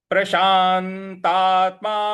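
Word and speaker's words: प्रशान्तात्मा: जाएगा 14वा श्लोक है प्रशांतत्मा विगतभर प्रशांत यहां प्रशांत जो आ रहा है यहां पे हल्का सा बल लगाना है और तात्मा तो यहां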